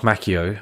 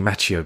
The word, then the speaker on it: Macchio: I keep saying Macchio, but it's Macchio because it's two C's. Macchio, match. In Italian, two C's is usually... No, actually, do you know what? You might be right. Because that's how he pronounced his name, Ralph Macchio.